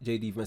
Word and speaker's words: J.D. Vance: She also thanks Vice President J.D. Vance, that's how you pronounce his name, and his wife for bringing him home.